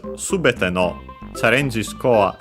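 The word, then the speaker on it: すべて: And yeah, because of that, the form of it, subete, accent on the first syllable, and so yeah, regular for the form.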